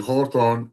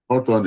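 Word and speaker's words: Hawthorne: the word itself but It is the Hawthorn effect. Hawthon effect. Hawthon is spelled H A W T H O R N E. Auton effect.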